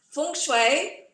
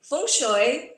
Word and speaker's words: Feng Shui: The way we pronounce it, there are a few different ways. It's Feng Shui, Feng Shui, Feng Shui, or Feng Shui. So different ways depending on which region you're coming from.